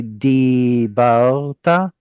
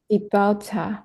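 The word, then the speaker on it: דִּבַּרְתָּ: I noticed that a lot of these Dalits, like this one too, were pronounced as T. So just be sure to keep it a Dalit.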